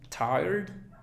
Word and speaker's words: tired: Después tenemos tired, tired. Fíjate, tired. Al final debe sonar la D.